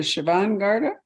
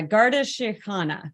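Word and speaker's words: Garda Síochána: force what is it is it the Siobhan Garda it's a Garda shikhana which translates as Guardians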